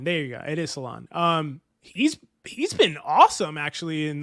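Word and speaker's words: Salaün: It is Salon.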